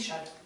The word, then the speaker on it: Chasles: La relation de Chasles. Oui, ici, c'est la relation de Chasles. Qui s'écrit d'ailleurs Chasles. Et on dit Chasles.